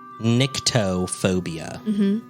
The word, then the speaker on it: nyctophobia: it is the fear of the dark okay it's spelled n-y-c-t-o phobia nictophobia yeah I've never heard of it called that